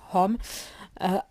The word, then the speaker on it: Aum: Sa prononciation est nasalisée en fin de mot et les lettres forment un triangle qui renferme toutes les possibilités du son.